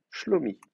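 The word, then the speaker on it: שלומי: Shalom plus moi, ça s'écrit i en hébreu avec un derrière. C'est comme ça que ça va c'est comme ça que ça va s'écrire. Donc euh je vais remplacer le même médial par un enfin même par le même médial. Donc on va dire shalom déplacement d'accent. Shalom. Maintenant, j'ai trois syllabes. L'anté prétonique va tomber. Donc, on va dire schlomi.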